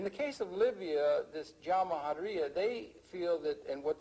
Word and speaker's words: Jamahiriya: You'll hear Colonel Qaddafi talk about the Jamahiriya, pronounced Jamahiriya, which roughly translates, in an Arabic term, which roughly translates out the state of the masses.